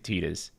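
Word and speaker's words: Tidus: Everyone gets mad when I say Titus, even though that's correct. These characters look updated in design.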